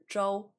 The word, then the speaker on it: Zhou: My last name is Zhou, or in Mandarin it's Zhou, but like I said,